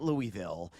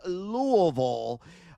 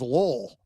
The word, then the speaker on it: Louisville: And no, it's not Louisville. You got to say it properly. Otherwise, never going to be granted access to that fine community there in Northern Kentucky. It is Louisville. And eventually, sometimes it becomes Lowell. I've heard that pronunciation before, too, in those parts.